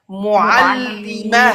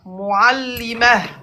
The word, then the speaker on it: معلمة: Regarde, le T fermé se prononce comme ha. معلمة. Mais prononce bien l'Aïn. Ok. معلمة. Voilà. Mu'allimah. معلمة. À la fin, il y a de l'air qui معلمة. sort. Voilà. Mu'allimah.